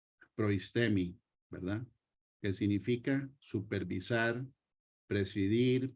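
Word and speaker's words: προΐστημι: los versículos donde sale esta palabra que se pronuncia proistemi, ¿verdad?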